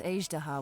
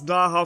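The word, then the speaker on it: Azhdaha: to many secrets plus azdaha once wrought havoc there are even more secrets buried deep underground here i've been pronouncing his name as daha for a whole year aged why have i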